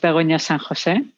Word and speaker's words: Begoña San José: So my name is pronounced Begoña San José. Most people call me just Bego.